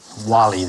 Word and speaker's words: Walli: Who's Valley when he's at home? Milo, spelling it phonetically, you should have a W. Wally, the diminutive of Waltrud.